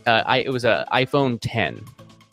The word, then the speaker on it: X: was a iPhone 10 it's pronounced 10 by the way not X for anybody if you dis if you think it's pronounced x i i i don't know how to tell you this it's Roman numeral 10 it's not it's not